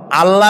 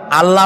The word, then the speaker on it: আল্লাহ: কি গুণাবলীতে বিশ্বাস আল্লাহর নাম আল্লাহ বলেন তো আল্লাহ নয় কিন্তু আল্লাহ হচ্ছে অশুদ্ধ শুদ্ধ হচ্ছে আল্লাহ বলার সময় মুখটা গোল হয়ে যাবে বলেন তো